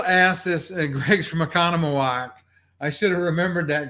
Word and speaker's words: Oconomowoc: there i will ask this and greg's from oconomowoc i should have remembered that greg i'm probably